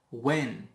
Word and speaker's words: when: When. Also H is silent.